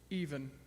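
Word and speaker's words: Eavan: I believe it's, what is it, Even Boland? Even, yes, that is her name.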